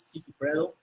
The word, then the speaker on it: Sigifredo: Okay, my name is Sigifredo. Spell it.